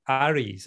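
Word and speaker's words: àirigh: They're called Airids, AIRIDH, or sometimes spelt with a GH.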